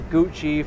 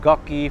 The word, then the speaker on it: Gucci: That's Gucci for all you people who want to pronounce it correctly. But Gucky for the people who don't know how to pronounce it.